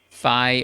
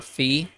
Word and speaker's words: phi: letter is uh phi which can be pronounced either as phi or fee either one is is fine with us you know what i'll